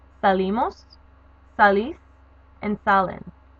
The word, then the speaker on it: sale: Salir, which means to leave, ends up being salgo, sales, sale, salimos, salís, and salen. You do not pronounce the LA usted form as sale. It's sale. You have to stress the A.